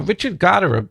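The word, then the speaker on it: Richard Gottehrer: can i back up a little bit now richard goddard played a pretty big role in your career i don't know if i'm pronouncing his name right um well yes you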